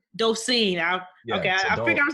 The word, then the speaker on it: Dolcine: Did I pronounce the last name correctly? Dolcine. Docine.